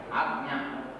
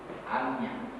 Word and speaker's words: Ajna: Agnya. That's Amya. In Bengali, Bangla pronunciation. What I can, because I read in Bengali. So, Agnya.